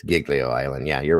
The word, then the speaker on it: Giglio: G say it wrong Giglio island Italy it's Giglio Island yeah you're right righto yep I remember